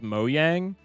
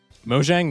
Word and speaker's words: Mojang: It's more along the lines of like, I know that the company that produces Minecraft is called Mojang, but I think that sounds stupid, so I pronounce it Mojang, even though it's wrong.